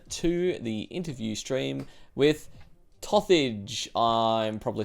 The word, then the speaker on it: Tosthage: because it's so not compatible with like English pronunciations. How are you meant to say it? Tosthage.